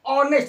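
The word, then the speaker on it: honest: Hussain was एन ऑनेस्ट कहता है एन माने एक यहां पर लिखा है होनेस्ट लेकिन पढ़ते क्या है ऑनेस्ट इसलिए यहां पे एन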